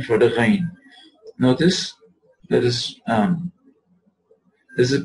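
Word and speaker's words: غين: The ghain originates from the root of the tongue along with the soft palate, like this, right? Ghain, ghain. Notice that the point of pronunciation does not close. Notice, if you notice here, if you look at the place here, you would notice that it does not close in pronouncing the ghain.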